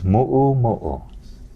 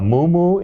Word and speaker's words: mu'umu'u: And please, olelo time, it's mu'umu'u. A mumu is a Hawaiian cow. Don't get them mixed up.